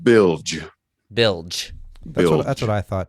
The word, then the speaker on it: Bilge: Is it pronounced Bilge? Am I saying it right? It's pronounced Bilge.